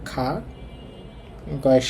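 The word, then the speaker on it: 가구: হ্যাঁ, গিয়ক শুরুতে থাকলে হবে খ, তো উচ্চারণ হবে খয়ের সাথে খা, গয়ের সাথে উ খাগু।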